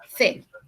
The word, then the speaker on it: fait: a pesar de que la pronunciación sea la misma, fe.